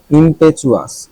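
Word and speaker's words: impetuous: ইমপেচুয়াস, ইমপেচুয়াস মানে হলো হটকারী, উচ্চারণটা দেখে নিব। ইমপেচুয়াস, ইমপেচুয়াস মানে হলো হটকারী, ইমপেচুয়াস। ইয়েস, আই was right. টিউ বেশিরভাগ ক্ষেত্রে চু উচ্চারণ হয়।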